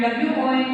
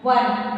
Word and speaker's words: won: And W-O-N means won. One. Pronunciation? One. O-N-E, one. How we pronounce this? Same way we have to pronounce this.